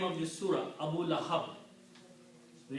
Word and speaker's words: Abu Lahab: Waw is a weak letter. To pronounce it easy, we pronounce it Abu. Okay? So pronunciation of this word becomes Abu.